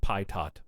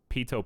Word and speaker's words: pitot: I have no idea what it is, but I know it's not pronounced Pytot.